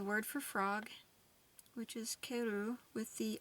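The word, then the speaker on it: カエル: It says in Japanese the word for frog, which is keru, with the accent on the second syllable, and the word for return, keru, with the accent on the first syllable, are the same, except for the accent.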